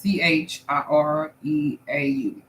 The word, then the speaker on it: Chireau: I don't want to mispronounce her last name. It's Chireau.